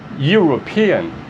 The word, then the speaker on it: European: Como é que se pronuncia essa palavra? European. I. European, tá? É o som aqui de Y. Esse som aqui é European. European. Então, esse som de Y, então você não coloca N, coloca o A.